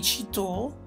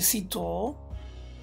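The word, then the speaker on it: Cîteaux: del monastero francese di cito si legge sito si dettero una regola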